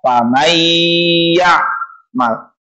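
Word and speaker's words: فمن يعمل: ya nun, mim atau faman ya'mal dibaca famay ya'mal. Famay itu dilebur bunyi n-nya ke dalam huruf selanjutnya, yakni iya, bigunnah menggunakan dengung.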